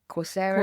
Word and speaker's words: Coursera: Coursera, is that how you say it?